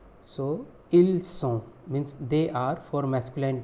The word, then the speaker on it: ils sont: Ils is also pronounced il. As you know, the last consonant of a word is most of the time is silent. So il sont means they are for masculine plural.